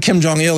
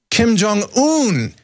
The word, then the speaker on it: Kim Jong-un: the guy's name there not not Kim Jong ill it's Kim Kim Jong-un yes because every generation they